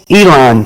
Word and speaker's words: Elon: I don't know how to pronounce his first name. Elon.